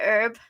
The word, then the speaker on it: herb: the herb like again herb you say herb we say herb yeah like h is silent basil and basil yeah